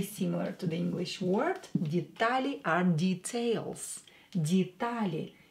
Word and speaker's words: детали: Детали are details. Детали. Е will be pronounced as E, D, because it's not stressed.